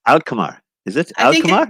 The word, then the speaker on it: Alkmaar: It's Hatmar. Ahmar. It's difficult to pronounce. Alkmaar.